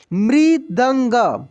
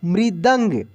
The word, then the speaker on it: मृदंग: में नीचे लगता है, और ये जिस भी अक्षर में लगता है ना, उसका उच्चारण पूरा वाइब्रेशन के साथ होता है। मृ, मृ, देख रहे कैसे हो रहा है। मृदंग, मृदंग, जो कि मैं अभी एक